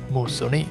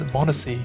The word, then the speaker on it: Moosonee: 1,481 inhabitants of Moosonee, because the town is actually called Moosonee, and I've been pronouncing it as Moosonee all this time, and I've been spelling it incorrectly as well. It's with one M and one N.